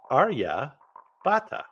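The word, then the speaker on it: Aryabhata: to and that's because his name is AR Arya Bata Arya Bata his contributions to mathematics and astronomy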